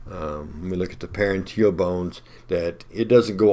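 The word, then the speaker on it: parietal: And I said parental, I meant paranteal. It's easy to move that in upwards a few letters and mispronounce, but paranteal is the peach colored structure.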